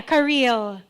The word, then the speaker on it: Kareyl: But it's spelled Kareyl. But it's not in the spelling, it's the pronunciation, so it's Kareel.